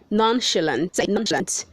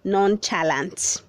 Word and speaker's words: nonchalant: nassau verse 285 says nonchalant the ch is making the sound of sh don't say non challenge verb 286 says ninths